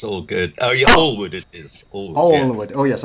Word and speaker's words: Allwood: Oh, yeah, Oh, Allwood it is. Allwood, yes. Allwood. Oh yes, I must remember my pronunciations.